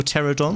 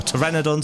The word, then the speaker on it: Pteranodon: Polly here a little pterodon that we got yesterday or Pteranodon sorry I know always say it wrong uh and this thing